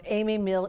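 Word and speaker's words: Amis Mill: do you say it amos mill amy mill amy mill p i always and i know it's got s on it but it's pronounced amy mill eatery in rogersville that's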